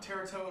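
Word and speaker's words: Tetairoa: One week they're taking I don't know how to pronounce his name. Tetaroa McMillan. Teratoa McMillan, that's it.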